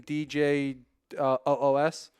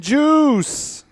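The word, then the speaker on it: Djoos: Washington Christian do host I believe you say his name DJ OS so they got him look I'm Christian do host Oh Christian juice oh is that how he actually says its juice okay the juice is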